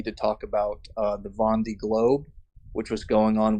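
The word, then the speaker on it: Vendée: That definitely makes the Vendy Globe. The Well, it's pronounced Von D.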